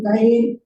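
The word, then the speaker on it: Qayin: ഗർഭം ധരിച്ചു കയ്യിനെ പ്രസവിച്ചു ഇംഗ്ലീഷിൽ എഴുതിയേക്കുന്നതായ പദം കെയിൻ എന്നാണ് അത് അങ്ങനെയല്ല അതിൻറെ ഉച്ചാരണവും സ്പെല്ലിങ്ങും അതല്ല ഹീബ്രു പദത്തിൽ നിന്ന് ക്യു എ വൈ ഐ എൻ എന്നാണ് അതിന്റെ ഉച്ചാരണം വരേണ്ടത് കയ്യിൻ അത് നമ്മൾ മലയാളത്തിൽ ഉച്ചരിക്കുന്നത് ഏതാണ്ട് ശരിയായ വാക്കാണ് കയ്യിൻ എന്നാണ് അതിന്റെ പദത്തിന്റെ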